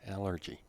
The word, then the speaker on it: allergy: the noun underneath is allergy stress is on the first one allergy for example i'm allergic